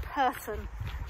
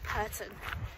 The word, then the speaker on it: Pirton: It's pronounced Pirton.